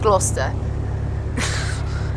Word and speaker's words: Gloucester: That's how you should pronounce it, but obviously it's called Gloucester.